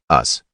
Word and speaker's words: Us: 1968 was Ron karenga's us pronounced us as in not them karenga's group sought to